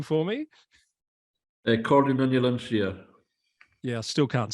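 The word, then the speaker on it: Comhairle nan Eilean Siar: Cordon Shire.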